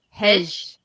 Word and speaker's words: hej: This is how you say hi in Sweden. Hej.